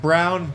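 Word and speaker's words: Braun: do I love Christian it's pronounced brown brown him getting his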